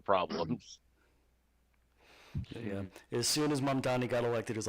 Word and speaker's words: Mamdani: Mamdani, Mamdani, yes.